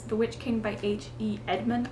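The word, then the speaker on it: Edgmon: Edmond. I believe that's how you would say the last name. I don't think you would say the G.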